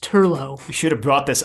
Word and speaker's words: Turlough: de l ba CH so it looks like Troy debauch but it's pronounced Turlough you should have brought